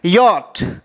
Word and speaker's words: yacht: इसे हम, या एक तरह का बोट होता है, इसे हम पढ़ेंगे यॉट, YACHT, इसे हम यॉट पढ़ते हैं।